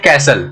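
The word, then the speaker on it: castle: उसी तरह से आज हम इसको बोलते हैं कैसल, लेकिन उस जमाने में इसको कैस्टल बोलते होंगे।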